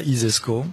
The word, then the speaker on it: ISESCO: si vous considérez ça isesco euh comme ça se prononce hein i euh donc